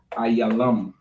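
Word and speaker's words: עילם: And in the Hebrew, it is Ayalam.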